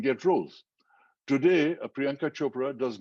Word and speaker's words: Chopra: is priyanka chopra chakra it's not chopra it's like if you can say oprah you can say chopra you know it's not